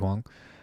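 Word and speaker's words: Huang: for is Andrew H sorry I said his name wrong Andrew Hong um like he grew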